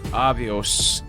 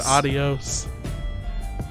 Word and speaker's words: Avios: Avios. You bird. Spell that out. AVIOS. I thought he SOS. said adios. Avios.